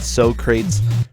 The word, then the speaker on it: Socrates: Hey, I've actually had this discussion about Socrates' pronunciation before, and he completely agrees. It's Socrates. That's how you say his name.